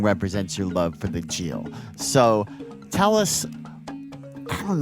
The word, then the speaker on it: Gyil: Gyil, yes.